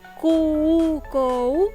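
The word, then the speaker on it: 空港: Que se escribe Kukou, ¿tá? Lo que decimos Kukou, ¿tá? Pero se pronuncia Kuko, ¿tá?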